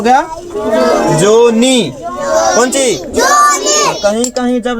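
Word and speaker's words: John: अंग्रेजों का हां तो इसके नाम में एच साइलेंट रहता है देखो जो का इंग्लिश क्या होता है जी ओ एच एन ये हो गया जोन क्या हो गया? जोहन। एच को नहीं पढ़ेंगे नहीं तो जोहन हो जाएगा। एच साइलेंट है।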